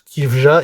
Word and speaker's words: Caoimhe: Et oui, ça se prononce Kifja et pas K.